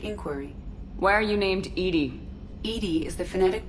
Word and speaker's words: EDI: have a specific inquiry why are you named Edie Ed is the phonetic pronunciation of Eed that is an acronym for